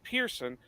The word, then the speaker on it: Pearson: Joe Montana but um when I tell people how it you know how we pronounce it it's Pearson they always want to spell it P i e r s o n that's not it it's p a r s o n it's just somehow when